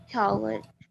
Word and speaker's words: called: So this is another word that we do not pronounce this letter here. We don't pronounce the vowel. The vowel E here is not pronounced. We say called, called.